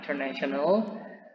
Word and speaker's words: international: Perlu diperhatikan di sini, pada fonetik simbolnya tidak terdapat huruf Y, maka dia tidak dibaca international, tapi international. International. Jadi S-nya saja, international. International.